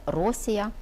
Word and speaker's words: Росія: Україну у цей час по-грецькому називали Росія з наголосом на першому складі тому якщо ми працюємо